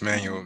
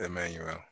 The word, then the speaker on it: Manuel: Yeah, it's Manuel. Manuel instead of Emmanuel.